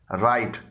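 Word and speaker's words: right: राइट, यहाँ पर GH से पहले आई आया है और ये GH साइलेंट है।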